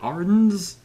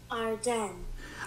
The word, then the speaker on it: Ardennes: Today I'm doing a discussion over Clash of the Ardeans Ar- Ardens Ar- you know, actually I have I have never uh never looked up on uh how to pronounce that.